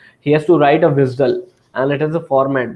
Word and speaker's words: WSDL: WSDL which is pronounced as visel and UDI.